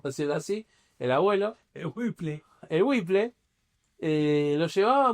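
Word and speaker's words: Whipple: Wple Vanen Philips, eh, que se debe pronunciar Wiple. Claro, Van Buren. Wiple. Boren Felips. Eh, bueno, como el como el los el lavarropas, no es W H I PP L.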